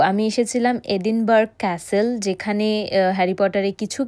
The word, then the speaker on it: Edinburgh: Harry পটারের birth place এডিনবার্গ। Actually এটাকে এডিনবারা বলে, আমরা ইংলিশ উচ্চারণে এডিনবার্গ বলি, বাট স্কটিশে এটাকে বলে এডিনবারা, মানে ওদের স্পেল, ওদের প্রোনাউন্সিয়েশনে।